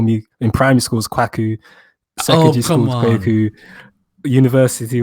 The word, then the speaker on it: Kwaku: So, the official Ghanaian way you want to pronounce it is Kwaku. But I'm also aware that not everyone has the vocals to produce that type of sound. So, Kwaku is the next best thing.